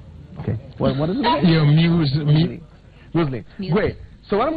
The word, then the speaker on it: muesli: I don't know how you pronounce moesli. Moesli. Moesli. Okay, inaandikwa kama moesli. Okay. It's what? Muesli.